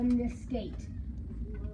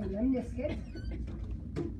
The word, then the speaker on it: lemniscate: it but it might you remember figure eight Lis gate wrong pronunciation but it goes with the spelling and it may help you remember it figure8 lemniscate okay it's actually called a lemniscate but it's spelled Lis gate so figure eight